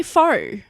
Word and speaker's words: faux: To me, just say faux. That's how it's pronounced.